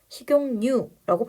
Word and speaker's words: 식용유: 조건이 달성이 되네요 그러면 발음 한번 해 보시고 여기다가 지금 니은이 들어가도 되나 식용유 우리 그렇게 발음하죠 그래서 식용유고 발음하면 된다 여기 앞에 있던 기억이